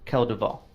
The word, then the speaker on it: Kel Duvall: who I am but you may refer to me as Kel Duvall you spell it for me now ke l space do v al okay like Robert Duvall i right thank you